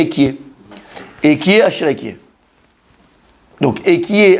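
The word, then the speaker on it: אהיה: le nom de lui, ça s'écrit Aleph, après il peut avoir un He, après il y a un Yud, et encore un E, ça fait Ekie.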